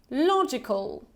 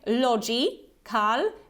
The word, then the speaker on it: logical: word try to read it and now together logical logical call call okay logical so also pay attention we have this short e hair so we don't say logi Cal but we say logic logical logical okay another